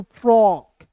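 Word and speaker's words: frock: तो यहाँ आप देखेंगे एफ आर ओ सी को क्या पढ़ेंगे दोस्तों? फ्रॉक, ओ के रूप में उच्चारण करेंगे।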